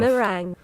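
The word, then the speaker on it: meringue: Mering is the British pronunciation. Okay. And you can then swap to American pronunciation here. I guess that's uh good enough. Merang.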